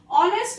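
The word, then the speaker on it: honest: Here the word start with H but the sound is O because H is silent. ऑनेस्ट में H silent होता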